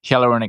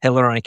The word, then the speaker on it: hyaluronic: the acid one that I keep mispronouncing? Hyaluronic acid. Hyaluronic acid.